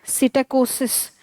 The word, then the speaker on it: psittacosis: अच्छा, but Pompe disease and now P is silent. Psittacosis is an other diseases that you want to know of.